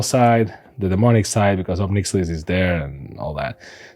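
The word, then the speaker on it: Ob Nixilis: Well, I never remember how to pronounce the name correctly. It's Obnixilis, I think.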